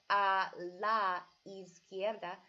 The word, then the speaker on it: a la izquierda: how to speak Spanish if it ends with a vowel like la does and then the next word starts with a vowel like easy on goddess you almost put those two words together when you're saying it and almost blend the words so instead of saying